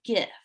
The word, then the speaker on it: GIF: So a gift is worth 1,000 words. And students really love gifts, and it's actually pronounced just like the peanut butter, but I don't know, that's weird to me.